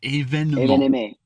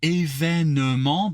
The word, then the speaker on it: événement: Oh, événement. Wait, say that again. Oh, it's technically événement, but Événement. yeah, but you can shut off that E in the middle.